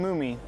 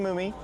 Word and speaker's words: Moomey: If I had to take a guess, Logan Moomey, not Mummy, Logan Moomey.